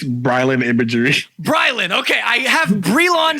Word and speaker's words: Brilan: I know what your real name is but pronounce the Instagram name it's Rylan imagery BryLin okay I have Grill on stuck in my